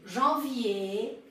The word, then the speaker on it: janvier: Quando a palavra termina por R, você também não pronuncia. Então, vocês têm aqui janvier, février, dossier e changer.